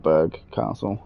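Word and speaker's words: Burgh Castle: Like they spelt Borough Castle right as well, but they call it Berg Castle.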